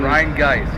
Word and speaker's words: Rheingeist: All right, so Rheingeist or Rhine? Rheingeist. Yeah, Rheingeist. That's a correct pronunciation.